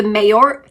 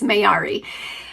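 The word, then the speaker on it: Mayari: These are the Mayor Mayori, not Mayori. I said it wrong before. It's Mayori.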